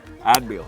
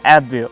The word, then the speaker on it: Adbeel: and my good friend ad ad not AB ad yeah at been been